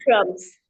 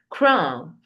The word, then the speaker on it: crumb: And the B is Or cookie crumbs. yes, the B is silent in the word crumb. You don't say crumb. No, you just say crumb.